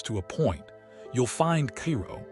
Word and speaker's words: Cairo: You'll find Cairo, pronounced Cairo, not like the city in Egypt.